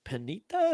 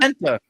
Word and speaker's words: Penta: Braun Breaker, the Destructor, taking on Finn Balor, Dominic Mysterio, and Penita. Is that how you pronounce it? Penta. Penta. Get it. Get it right because he's going to be the Intercontinental Champion.